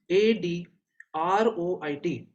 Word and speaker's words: adroit: is it is adroit a d r o i d it is pronounced as a droid the meaning is skillful